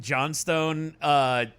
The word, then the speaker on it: Johnston: So you want to talk about generic Jim Johnstone music entry? Johnstone, is he a Flintstones character? No, it's Johnston.